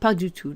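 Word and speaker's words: pas du tout: padutu not at all make sure that you know that expression padutu not just pa but padutu not at all it's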